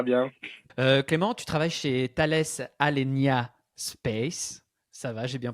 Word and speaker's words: Thales Alenia Space: Clément, tu travailles chez Thales Alenia Space, ça va? J'ai bien prononcé.